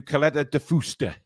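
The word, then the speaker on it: Caleta de Fuste: I'm going to Caleta de Fusta. Is that how you pronounce it, Billy?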